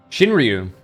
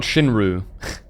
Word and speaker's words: Shinryu: Shinryu is how you say it, or Shinryu, or something like. There is a pronunciation that the Japanese do that is a bit hard to do unless you're used to it. But definitely not Shinru.